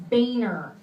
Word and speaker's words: Boehner: of the house his last name is actually pronounced Boehner the only way that this really affected me